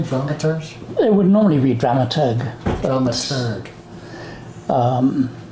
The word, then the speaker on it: dramaturg: podcast and I'm here with Peter Bradbury are dramers am I pronouncing that correctly dramers it would normally be dramaturg dramat um it's dramaturgy or dramaturgy I don't